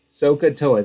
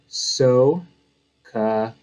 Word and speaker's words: SOHCAHTOA: SOHCAHTOA, this is how you say it up here. SOHCAHTOA.